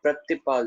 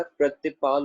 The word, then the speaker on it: प्रतिपाल: पहला वाला उच्चारण किया जाएगा प्रतिपाल। ठीक है, पप्पे के साथ रर्रा और रर्रे के साथ स्यारी प्रतिपाल।